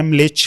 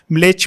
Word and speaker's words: म्लेच्छ: जैसे जो earliest description है म्लेच्छ का, म्लेच्छ में बेसिकली जो करेक्ट प्रोनाउंसिएशन है ना वो म पूरा नहीं बोलते, आधा म बोलते हैं, म्लेच्छ, मलेच्छ नहीं।